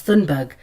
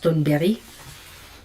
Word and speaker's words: Thunberg: And she told me one thing that I think Greta Thunberry, well you guys know her as Thunberg, but in Swedish her surname is pronounced Thunberry.